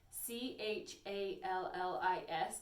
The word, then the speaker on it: challis: The first fiber I want to talk about is Rayon challis, and challis is spelled Challis, but it's pronounced challis.